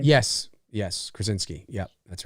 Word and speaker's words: Krasinski: Is that how you pronounce his last name? Yes, Krasinski.